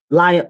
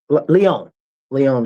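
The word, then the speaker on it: León: And this happened in Lion Leon. Leon, that's how you say it.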